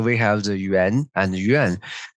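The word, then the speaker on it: 园: So we have the Yuan and Yuan. Those two words just pronounce the same in Chinese, Yuan, Yuan, but different tones.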